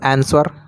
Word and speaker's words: answer: यदि किसी वर्ड में W के बाद S हो तो W साइलेंट रहता है। जैसे आंसर, ANSWER, तो यहाँ पर आंसर हो जाएगा।